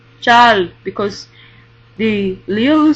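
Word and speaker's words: 잘: Now, chal, chal, you see that it's pronounced L, chal, because the liulu sound appeared after the vowel R.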